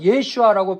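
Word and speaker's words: ישוע: 근데 이것은 예호슈아인데 예호슈아가 이제 더 축약돼서 예슈아라고 발음하게 되죠.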